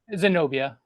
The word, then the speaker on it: Zenobia: Zenobia. It's a real name. It's a real name. Zenobia.